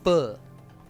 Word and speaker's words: pho: They need their faux stuffed with some shrimp. I said it wrong. It's pho, not faux.